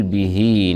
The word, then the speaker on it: به: الجانبه فتهجد به به هؤلاء الكنايه او هاء ضمير المفرد الغائب المذكر جاءت بين متحركين سبقت بباء مكسوره وتبعت بنون مفتوحه تمد مد صله صغرى بمقدار حركتين تلحق بالمد الطبيعي فنقول به نافله لك نافله النون